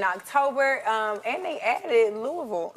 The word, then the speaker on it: Louisville: um and they added Louisville Louisville I learned you had to say it like that Louisville Louisville it's not Louisville it's Louisville okay mhm oh that's that